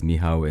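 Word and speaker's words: Michał: so my name is miow it's just polish for Michael and your is Jordon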